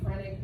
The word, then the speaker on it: phrenic: You got it, the phrenic nerve. And it's pronounced with a P. So it's P-H-R-E-N-I-C, phrenic nerve.